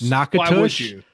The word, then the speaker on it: Natchitoches: um how they're written, you would think you would pronounce them similarly. Yeah. You don't. So they're not even close. Nakat and Nakadas or uh Nakad. Yeah. Nakades.